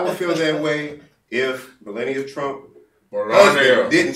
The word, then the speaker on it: Melania: But to be honest with you, and it's pronounced Melania.